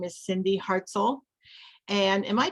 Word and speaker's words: Cindy Hartzell: Her name is Cindy Hartzell. And am I pronouncing that correctly, Cindy?